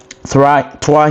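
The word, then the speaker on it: trois: TWA here is T R O I S.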